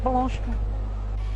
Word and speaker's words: Blanchimont: Blanchimont. Great pronunciation, I've got to say.